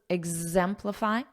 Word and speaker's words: exemplify: are demonstrate exhibit exhibit notice that Z exhibit exemplify Z exemplify and show and remember here